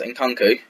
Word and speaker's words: Nkunku: I might change it up towards January, as Nkunku, I've learned how to say his name, it's Nkunku, goes up a few, as does Caleri and everyone else.